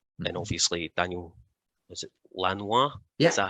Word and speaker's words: Lanois: And obviously Daniel, is it Lanois?